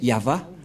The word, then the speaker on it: Yahvah: y c'est l'alphabet hébreu qui est prononcé yava et dans Genèse 2133